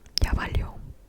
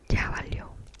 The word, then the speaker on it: ya valió: A way to say that in Spanish, specifically Mexican slang, is ya valió. Ya valió.